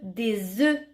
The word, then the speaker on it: œufs: Si tu te demandes pourquoi on dit E, alors quand tu mets le mot œuf au pluriel, cela ne se prononce plus œuf mais E, des œufs.